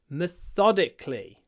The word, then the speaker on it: methodically: method then she works methodically so in this word methodically the stress moves to the second syllable uh I like this